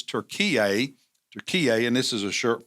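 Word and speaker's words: Türkiye: And as you can tell here, they don't spell it or pronounce it Turkey. It's Turkey, and this is a shirt from Ephesus.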